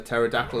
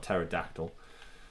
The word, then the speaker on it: pterodactyl: hello there's a terador not pterodactyl with a silent p now it's hard to